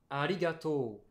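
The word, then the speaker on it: ありがとう: se dit en japonais arigato oh oui il a bien il a bien insisté sur le haut il a bien insisté sur au moins j'aurai toujours dit ali gâteau à des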